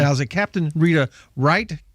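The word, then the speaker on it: Reith: is it captain rita right correct w-r-i-g-h-t correct well it's r-e-i-t-h but it's pronounced left or right okay all right german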